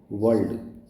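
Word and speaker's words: world: अब देखिए डब्ल्यू ओ आर एल डी इसको बोलते हैं वर्ल्ड। आर नहीं आएगा। इसमें र नहीं बोलेंगे इसलिए वर्ल्ड बोलेंगे इसको।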